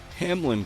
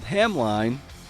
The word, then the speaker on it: Hamline: single story she teaches at Hamlin College which I called Hamline in the interview because I'm a [